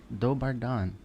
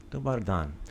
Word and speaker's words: Dobar dan: Dobar dan. Dobar dan.